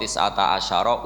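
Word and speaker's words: تسعة عشر: alay tetapi ngatasin roko tisata asyaroh utawi songolas tetap bacanya bukan T1 ajarin tapi tisata asyaro jadi kita tahu secara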